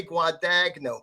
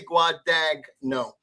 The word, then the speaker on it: Guadagno: a point where i i would say guadagno because that's well phonetically that's what you say guad dag no and i hated it